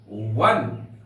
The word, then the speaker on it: one: इसलिए कि व को जब हम लिखेंगे तो उसका उच्चारण होगा, जैसे एग्जांपल लेते हैं ONE, वन। वन को अंग्रेजी में कैसे लिखेंगे हम? WAN, वन। साउंड इसका वन, तो W आया यहां पर, तो W यहां पर कॉन्सोनेंट है।